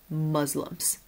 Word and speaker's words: Muslims: The short U sound, Muslims.